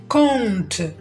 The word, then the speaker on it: compte: Exemple 2 أو مثال 2 compte compte. دوما حرف البي هو الصامت، وهذه الكلمة بالضبط تذكرنا كيفاش ننطق لي فويال نازال اون.